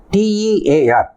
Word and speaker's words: tear: Second pronunciation is same spelling, pronunciation is different now. Tear, டியர் கிடையாது, dare அப்படின்ட்டு.